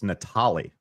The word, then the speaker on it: Natali: some 40 episodes now, and you still say my last name wrong. Natali. It's Natali. See, that's it. But legit, like, that's how you say my last name, Natali. It's not Natali.